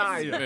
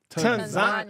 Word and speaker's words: Tanzania: Tanzania. Is Tanzania. that really how they say it? Yes. Because it's very much looks like Tanzania. They corrected me immediately. So the A is pronounced like a U.